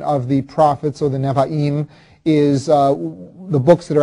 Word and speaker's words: Nevi'im: this section, the next section is called the Nevi'im, and that's spelled N-E-B-I-I-M, Nevi'im, and that means prophets.